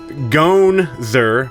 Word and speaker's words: g0nz3r: doing this beginning bit Ganzer what does that mean well first of all it's supposed to be gone sir but people would always call it wrong call me the name wrong so it's just a